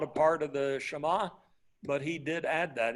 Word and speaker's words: Shema: the Shema right and you can say Shaima or whatever but usually in Hebrew the emphasis goes up on the last syllable so the Shema right here o Israel